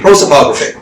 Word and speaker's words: prosopography: Prosopography.